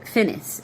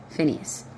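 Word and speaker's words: Phinehas: says Phineas. P H I N E H A S. Phineas is how I would pronounce that.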